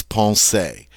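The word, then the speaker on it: penser: French infinitive it is Paul say notice that when it is an infinitive the ER at the end is pronounced a Paul say alright and this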